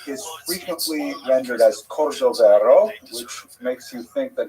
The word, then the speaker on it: Cordovero: It's a Portuguese spelling, but it's kind of a strange thing to pronounce in Hebrew, so it was sort of mangled into Cordovero, and that has become the standard, even though it is probably not correct.